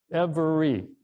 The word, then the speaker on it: every: seven five syllables but how many syllables is every I would us some thought was three syllables every but it's two and so you know